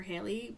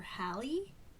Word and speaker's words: Hallie: conscious about calling her Hallie, because it's spelled kind of like Allie. So we put an H in front of it, Hallie.